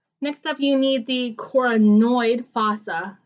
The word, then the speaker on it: coronoid: need the coronoid fossa I'm going to say it like that because it's important that you hear Cora noid that end sounds because there are other structures on other bones that sound very similar unfortunately here's my humerus